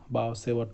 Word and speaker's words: Biot-Savart: Mostly we don't pronounce the T, so we just say Biot-Savart Law.